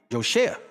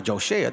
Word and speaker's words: Joa: Joa, kind of like my name, Joa. If you pronounce it the way I write it, not Joshua, Joa.